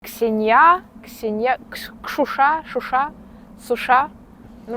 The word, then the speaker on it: Ксения: здесь на самом деле как произносится ксенья ксенья Шуша Шуша суша Ну